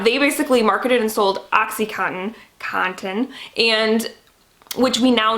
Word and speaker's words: OxyContin: time saying that because my midwest accent does not want me to pronounce that t that's in there oxycontin just sounds weird to me so i'm sorry